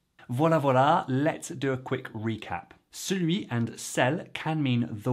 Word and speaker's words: celui: I hear celui-là far more often than the others. Please do tell me your experience in the comments. And celui at real speed often sounds like celui, celui.